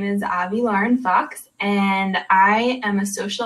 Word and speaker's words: Avi Lauren Fox: going to be speaking with I hope I've pronounced your name right Avi Lauren Fox you got it all right girl uh Tracy